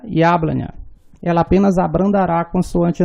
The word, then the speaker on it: Яблоня: Ya inicia uma palavra e é a sílaba tônica, então ela terá o som de duas letras. Яблоня. A letra O, ela está em uma sílaba átona, então ela terá som de A.